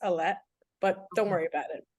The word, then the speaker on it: Alae: my name is um so it's actually pronounced elette but don't worry about